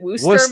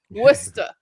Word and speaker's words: Worcester: going to have to help me with the pronunciation, Mike. Is it Worster, Massachusetts? Worcester.